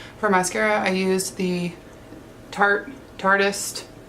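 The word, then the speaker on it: tarteist: For mascara I used the Tartist. Some people call it Tartiest because it's spelled like that, but it's Tartist.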